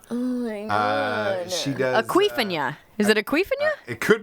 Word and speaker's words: Awkwafina: You guys know the bottled water, Aquafina. It's not spelled like that. This is AWKWAFINA, Aquafina. Oh my god. She does. Aquifina.